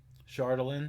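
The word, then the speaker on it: Chardalyn: there you go that's how you pronounce that pronunciation guy is good care konig yeah that's how i said it um chardelin yep i said that right chiwinga yup i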